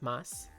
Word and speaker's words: masu: word so for example you know how desu d-e-s-u is actually just pronounced desu or masu is actually known as moss i can see that